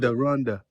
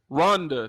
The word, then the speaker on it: Rwanda: you from Rwanda okay you said it different I I never heard it pronounced like that okaya Rhonda Rhonda that's how you say okay yes okay all